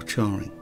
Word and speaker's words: Charing: Firstly, is this Charing or Charing? I pronounce it Charing as in Charing Cross, but if you know for sure, then leave us a comment.